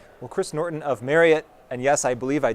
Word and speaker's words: Marriott: Well, Chris Norton of Marriott and yes, I believe I did pronounce it correctly.